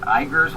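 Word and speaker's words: Uyghur: east of turkey well they're called the orer igers or or or uh I believe it's spelled u y g h e r and they are islamics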